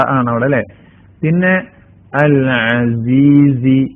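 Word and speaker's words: العزيز: ആണ് അവിടെ അല്ലെ പിന്നെ അൽ അസീസി രണ്ടാമത്തെ വേർഡ് അൽ അസീസി ഐനാണ് സായാണ് അടുത്ത വേർഡ് അറഹീം തൻസീലൽ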